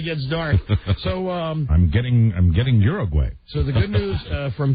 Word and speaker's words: Uruguay: Yeah, when we all went to school, they told us Uruguay, but really the correct pronunciation is Uruguay.